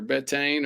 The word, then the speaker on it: betaine: What's the correct pronunciation? Is it betaine or betane, or do you know? I know in Spanish. What is it in Spanish? Betaína. Betaine. There we go.